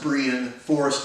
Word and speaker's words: Brien Foerster: is spelled like Brian Bri Ian but is pronounced Brehon forest or f OE r st ER he's an